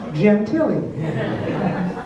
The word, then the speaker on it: Gentile: Pronounced Gentili. Gentili, like Jennifer Tilly.